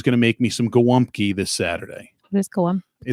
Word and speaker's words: Gołąbki: When you look at how it's spelled, it's not spelled like it sounds because it's Polish, and we don't do shit normally. It's spelled Golabki, like Golabki. How do you say it? Gołąbki.